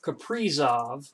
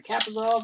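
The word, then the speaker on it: Kaprizov: now this is awesome or caprizov as i heard it pronounced last night i'm like what i've been found some kappazov this whole time it's capri yeah again boston translation i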